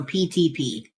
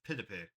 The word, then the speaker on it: PTP: Oh, it's pronounced like the letter P, the letter T, and then the letter P again. So PTP. No, the correct pronunciation is Pitipe.